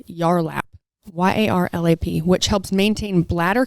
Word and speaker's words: Yarlap: the co-founder of a woman's wellness device called yarlap y-a-r-l-a-p which helps maintain bladder control and tone